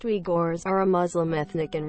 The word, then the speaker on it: Uyghurs: vulnerability to become slave the uyghurs pronounced we gores are a muslim ethnic